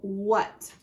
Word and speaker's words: what: So the A is the one that doesn't make sense, and it sounds like it sounds like a short U. So what?